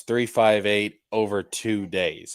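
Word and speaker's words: 358/2 Days: Bro, we got Kingdom Hearts 358 over 2 days, all right? And that is how it's pronounced.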